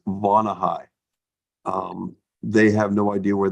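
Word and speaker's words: Vonahi: We bought a couple of products from them already, and the product they have it's pronounced Vonahai.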